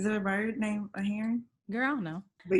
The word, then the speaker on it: Herron: Heron. I want to say it's like a bird. Is there a bird named a heron?